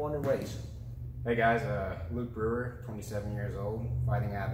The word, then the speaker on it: Brewer: luke how do you say your last name brewer brewer and uh he will be making his